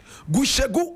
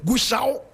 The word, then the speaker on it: Gushegu: Gushegu, as you say, correct pronunciation, Gushau, is located in the northern region of Ghana.